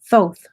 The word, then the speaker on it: Thoth: Thoth is here, and this is how you say it, like both. Thoth.